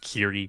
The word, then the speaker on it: Chiri: Yeah, it's Chiri is literally it's basically just Chiri. Yeah, the word Chiri. Like, yeah. Yeah, maybe add a little Japanese stank to it, but.